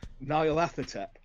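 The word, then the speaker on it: Nyarlathotep: How do you pronounce it? Narla Hotep. Okay. Yeah. Different again. Okay. And yours is probably the correct way, because the people who know more than me pronounce it that way.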